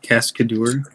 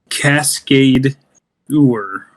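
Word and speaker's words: Cascadeur: uh Cascade or I think that's what's called cascador I don't think so uh what's it called Cascade tour so it's spelled like c-a-s-c-a-d-u-r so okay you might benefit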